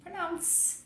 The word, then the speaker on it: pronounce: Então, não é pronounce, e sim pronounce. O último som dessa palavra é um som de S, não tem I aqui depois, percebe?